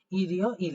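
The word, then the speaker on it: 일요일: আবার একটা ইল আছে তাহলে উচ্চারণটা হবে ইরিও ইল এই যে নিচে যেভাবে আমি লিখছি উচ্চারণটা এরকম হবে ঠিক আছে তাইলে উচ্চারণটা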